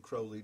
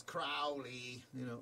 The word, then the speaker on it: Crowley: Due to the fact that Aleister Crowley, and Crowley does rhyme with holy, even though Ozzy says Crowley, I can understand why he does, because he's British.